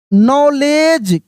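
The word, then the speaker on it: knowledge: ना confidence and एंड नॉलेज के एन ओ डब्ल्यू के साइलेंट है।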